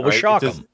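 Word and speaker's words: Washacum: I'm gonna jack the pronunciation up. East and West Washakum Ponds. Oh, Washakum. It does not look like it's spelled.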